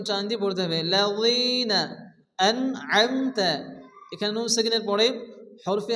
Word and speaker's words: أنعمت: হবে আইন মিমস আম এই আইনকে ভালো উচ্চারণ করতে হবে আনআমতা অনেকে আছে এখানে আমতা পড়ে আমনে আনআমতা আলাইহিম আইনকে ভালো উচ্চারণ